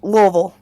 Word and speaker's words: Louisville: is that how you is that how you say it yeah yeah laville very lville say Louisville with a mouthful of marbles that's all I see